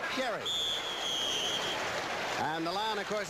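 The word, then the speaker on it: Gerry: there with Gary Ellis he pronounces it he spells it Jerry pronounces it Gary and the line of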